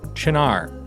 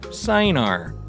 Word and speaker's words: Cynar: We're going to start using a really cool liqueur called Cynar, or as I pronounced it when I first saw it, Cynar, because it's spelled C-Y-N-A-R.